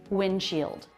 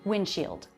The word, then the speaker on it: windshield: Notice here the D comes after an N before another consonant sound. It's very common to drop that D sound, and I did. Windshield. Windshield.